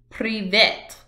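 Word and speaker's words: Привет: Privet. Russians use Cyrillic alphabet. So the alphabet is known as a Cyrillic alphabet. And that word for hi is privet.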